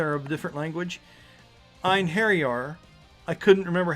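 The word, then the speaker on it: Einherjar: of a different language, Inheriar, I couldn't remember how to do it. And then when I got past the fact that it begins with an E, it's literally spelled like in her jar.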